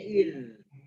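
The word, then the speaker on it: إذ: Itu ada zal tuh. Di ayat 30 ya, halaman kiri paling atas. Itu zalnya sukun. Wa idz. Bacanya idz. Bukan wa idz qala, wa idz qala. Nah, itu dia. Kita fungsi mempelajari sifat huruf biar tahu, oh, ngalir suaranya. Wa idz qala Ibrahim.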